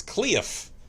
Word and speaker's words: Cliff: I mean, I suppose if it's pronounced in like a redneck, like well, when my grandma pronounces my name, it's not Cliff, it's Cleof.